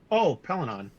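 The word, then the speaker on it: Pellaeon: Pelinon.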